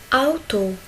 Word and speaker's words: Auto: A, ou. A, ou. Il se prononce comme au. Au. Comme auto. Auto.